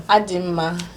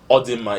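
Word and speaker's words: A dị m mma: How do you say, I'm fine? Adima. Adima. Perfect. Now, I know some people say Odima.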